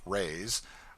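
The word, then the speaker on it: reis: from the portuguese pennies or reyes pronounced rays are prodigious it takes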